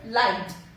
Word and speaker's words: light: Next is light. G again is silent here.